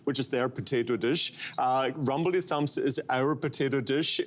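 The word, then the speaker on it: Rumbledethumps: Let me try to pronounce it, although your name is challenging enough for me. It is the rumble thump Rumbledy Rumbledy Thumps Fish Pie.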